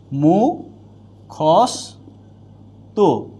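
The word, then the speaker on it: মুখস্থ: বা মর্ধনস এর সাথে যুক্ত থাকে তাইলে এটার উচ্চারণ দন্তস্য থাকবে যেমন মু খস্ তু মুখস্ত হবে কি বস তি দন্তস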